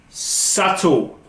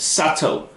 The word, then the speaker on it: subtle: Subtle. Tricky word. The B is silent. Subtle.